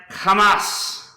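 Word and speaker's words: חמס: Another word is pronounced Hamas.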